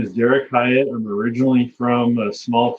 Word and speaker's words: Derik Hyatt: I'm the communications manager at the Canadian Freshwater Alliance, and I'm here with Derik Hyatt.